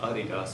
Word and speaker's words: Adidas: now this year when Adidas which by the way is actually pronounced Adidas if you're German when you uh look